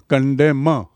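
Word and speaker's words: condemn: ई एम एन और उच्चारण है कंडेम न is silent N is silent to कंडेम don't कंडेम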